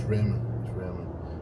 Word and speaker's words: Ramon: It's Raymond. It's spelled R-A-M-O-N.